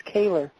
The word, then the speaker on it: Kehler: a hold of Chris Keller at his website. I keep saying Keller. You say it's Kehler. It is Kehler.